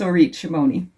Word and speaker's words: Orit Shimoni: So yeah, in English, it's Orit Shimoni.